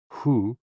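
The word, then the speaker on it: 呼: associated with the kidneys h o o pronounced like who which is associated with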